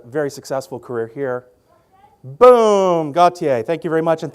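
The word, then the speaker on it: Gotye: charts after a very successful career here boom Gautier thank you very much and thank you for finally teaching me how to pronounce that because many a DJ in the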